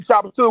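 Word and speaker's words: Tchoupitoulas: If I tell you chapatulus, what the first thing you think is spelled with the first letter? If I take chopper two is what you think the first word the first letter gonna be? Well, because I know it's New Orleans, I'm gonna say T.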